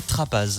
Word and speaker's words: Trappaz: la chèvrerie de la trappe ou de la trappe oui trap c'est le lieu mais les la prononciation se dit comme ça en local mais c'est vrai que les gens distrapage donc on est une chèvrerie